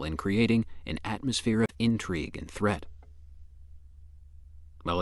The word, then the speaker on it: intrigue: If word 12 is being used as a noun meaning crafty dealings or underhanded plotting, it is pronounced intrigue. Intrigue.